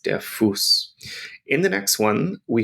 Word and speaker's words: Fuß: And we have our SZ on the end, and we pronounce it like it's two S's, der Fuß.